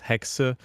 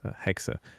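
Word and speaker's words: Hexe: it's a German word most most American people are spelling it like pronouncing it hex but it's hexa and it's a German word so yeah I mean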